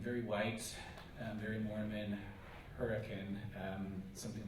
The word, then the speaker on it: Hurricane: very white very Mormon Hurricane Utah um I pronounced Hurrican um Southern Utah um